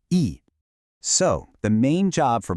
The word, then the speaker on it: へ: The particle hit is actually pronounced E.